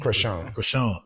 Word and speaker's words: Chrisean: That's how you pronounce her name, Chrisean? Chrisean.